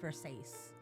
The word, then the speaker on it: Versace: You've seen Versace. It's pronounced Versace.